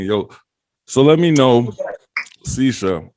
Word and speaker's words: Cisha: Ladies and gentlemen, is it Cisha? Cisha, yeah, you said it right.